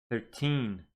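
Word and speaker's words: thirteen: you would say good 13 stress on the second syllable but if you want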